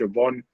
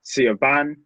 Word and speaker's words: Siobhan: Even like names that you can't necessarily pronounce properly, like the Irish Siobhan. It's not pronounced how it looks. It looks like Siobhan.